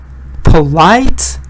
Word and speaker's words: polite: Or for example, polite, impolite. Again, stress is on polite, impolite. Sorry, stress is on light.